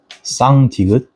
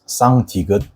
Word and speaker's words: 쌍디귿: learned beforehand, and it actually sounds similar to tigut, but you should pause your breaths beforehand like tigut, but it has to be much stronger. So you have to stress your mouth muscles to pronounce 쌍디귿 properly.